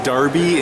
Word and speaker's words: Derby: It's pronounced Darby in case you're an American, because That's right.